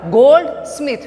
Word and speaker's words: goldsmith: We can pronounce the word goldsmith.